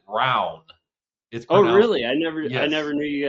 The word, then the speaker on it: Rowan: It's spelled like your name, but in Kentucky, my county. We pronounce it round.